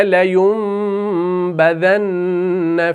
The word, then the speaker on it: لَيُنْبَذَنَّ: میم کو لکھا، لَيُنْبَذَنَّ۔ اصل میں کیا ہے؟ یون، یعنی اصل میں ہے یون، YUN، لیکن ہم کیا کر رہے ہیں؟